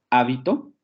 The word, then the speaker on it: hábito: Hábito, habito y habitó.